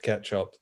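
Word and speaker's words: k3sup: He said it's pronounced ketchup, that effectively makes a K3S install like the simplest thing I've ever seen.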